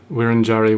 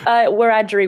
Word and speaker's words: Wiradjuri: Because you are a Wiradjuri woman, and I think I pronounced that wrongly, but anyway. Close-ish, Wiradjuri woman. Wiradjuri.